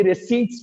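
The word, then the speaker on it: receipts: अच्छा देखिए नया जो प्रोनाउंसिएशन आया, कई ईयर्स हो चुके हैं, इसको भी रिसीट्स बोलते हैं. पी खा जाते हैं इसमें, पता नहीं क्यों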